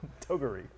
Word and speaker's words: Toguri: Toguri. No, I think that's the correct pronunciation.